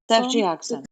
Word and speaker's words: ceftriaxone: Yes, 1991, nebulizer administration of can you pronounce that for me? Ceftriaxone.